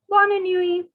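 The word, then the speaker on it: bonne nuit: good night it is the t is silent new e in french is night so born and you together means good night bonnie newey bona nui okay so we have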